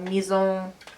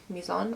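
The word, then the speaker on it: Mizon: The other thing that I picked up is this Maison, M-I-Z-O-N, Maison. I think it's like an Asian brand, so you probably don't pronounce it the French way.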